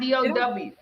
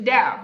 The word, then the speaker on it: DAO: DAO is not DOW, okay? How do you pronounce it? Is it DAO? It's DAO.